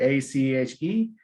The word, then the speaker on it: ache: termination right here with a c h e all right the ones that have this okay uh termination a-c-h-e the pronunciation is going to be ache all right so don't forget